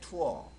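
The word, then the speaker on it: tour: 발음 먹는 거라 했잖아요 그다음에 투어 투어 투어요 정도가 돼요 투어는 관광하다 뜻입니다 자 3중모음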